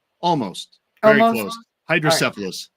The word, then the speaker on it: hydrocephalus: can't change the fact that you have this hydrocephalitis. Did I pronounce that right? Almost. Very Almost? close. Hydrocephalus. It's all right. It's okay. Hydrocephalus.